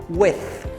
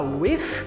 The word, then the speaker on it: with: pronúncia desse with Ok esse with termina com th lembra do th que eu comentei antes então Toda vez que você vê esse th tem que colocar ponta da língua entre os dentes somente a pontinha da língua entre os dentes então vai ficar with cuidado não falar with porque não é com f tá então vai ser